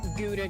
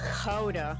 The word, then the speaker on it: Gouda: Just like it's not Gouda cheese, it's Gouda. Learned that from my girlfriend. The G's in Dutch are very.